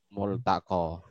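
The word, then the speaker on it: ملتقى: Multaqo. Bukan mal, Pak ya, mul.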